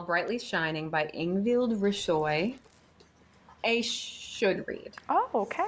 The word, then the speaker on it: Risøy: So I don't think you pronounce the H. Ingvild Risøy.